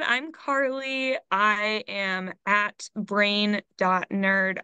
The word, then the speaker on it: Carleigh: you Carly beautiful because your name is spelled c a r l e i g h yeah it's uh it was really hard to understand when I was learning the alphabet that I have a bunch of silent letters in my name yeah yeahum dude I'm